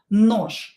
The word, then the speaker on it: нож: We have je at the end of the word, and we will pronounce it as sha letter. Нож.